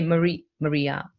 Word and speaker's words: Marija: The J is silent. Okay, Maria.